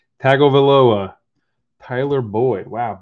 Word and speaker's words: Tagovailoa: the bat yellow press proof rated rookie tua tag olivia oh attack i can't even say his name tagovailoa tyler boyd wow butchered his name right there but you know